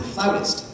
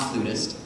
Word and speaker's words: flautist: We pronounce it flautist, not flutist, and always sit with our feet flat on the floor.